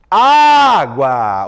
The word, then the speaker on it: água: Água. Água. Opa, a penúltima sílaba durou mais.